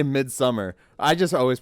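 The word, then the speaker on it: Midsommar: actress if you watch mid mid Samar bro or summer it's spelled someone you know they literally say mid summer I just always pronounce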